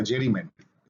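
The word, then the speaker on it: gerrymandering: जेरी Gary मेंडरिंग या जेरी मेंडरिंग, spelling जी से start होता है, जेरी मेंडरिंग।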